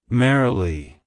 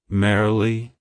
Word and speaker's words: Marely: and a variant of the name Mary it's pronounced as merily merily merily to pronounce it correctly emphasize thear and